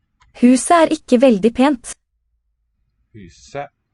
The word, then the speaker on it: huset: Huset. The T is silent.